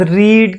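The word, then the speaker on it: read: उसके बाद रीड की थर्ड फॉर्म, इसको रेड कहते हैं, लेकिन लिखने में सेम ही स्पेलिंग होंगे।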